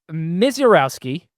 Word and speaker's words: Misiorowski: Uh Jacob Miserowski, that is how you say the name.